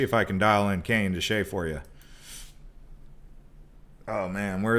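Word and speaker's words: Canyon de Chelly: let me see if i can dial in canyon to shea for you oh man where is canyon shea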